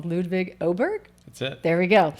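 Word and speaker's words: Ludvig Åberg: sorry ludig sorry ludig if I'm saying your name wrong ludig oberg that's it there we go so there's my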